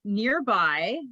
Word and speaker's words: NRBI: couple years which is really cool and it's nearby so it's spelt nrbi and i was you don't even